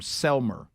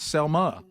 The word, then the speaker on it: Selmer: And that's near Henderson and also about maybe 20 25 minutes from Selmer, not Selma. Selmer. Okay. Okay. So, even though there's no RL.